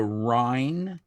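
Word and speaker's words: Rhein: It was called the Rin, spelled like the German way. R H E I N.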